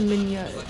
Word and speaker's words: Minette: They said Minette is the way to pronounce it.